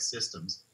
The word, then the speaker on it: CSDMS: surface dynamics modeling system sometimes people say it with a soft C so it sounds like systems and it is both